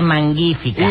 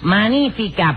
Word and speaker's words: magnífica: no tú estás confundido no se dice mangu hifica y Cómo se dice entonces magnífica porque eso viene de